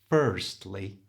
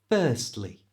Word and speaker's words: firstly: to say this correctly don't pronounce the r it's not firstly keep keep your tongue flat and just make the a sound firstly you try firstly keep